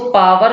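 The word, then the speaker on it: power: जैसे कि ये वर्ड है पावर, अब आप इसको पावर भी बोल सकते हैं, आर को थोड़ा साइलेंट रखिएगा, या फिर आप पार भी बोल सकते हैं, कोई प्रॉब्लम नहीं है।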